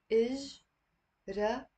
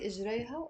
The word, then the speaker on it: إجريا: إجريا. So it's three syllables. إجريا. And notice here the ha, I'm not pronouncing it. It's silent.